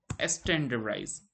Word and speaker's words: STDIZE: All right, so to achieve this, there is one procedure which is called proc standardize. So this is spelled as STDIZE, but this is something which stands for standardize, right?